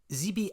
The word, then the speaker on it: Zby: Zeby atlanticus, whose generic name is spelt Z-B-Y, is another generic name that comes